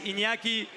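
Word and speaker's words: Iñaki: My name is Inyaki. But in Yeah, it's like like this word, this letter we only have in the Spanish language.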